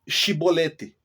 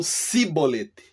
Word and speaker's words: chibolete: juízes onde os efraimitas Eles não conseguem falar a palavra chibolete então eles falam sibolete é exatamente isso que